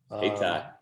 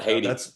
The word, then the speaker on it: Hayti: Hayti. Not Haiti.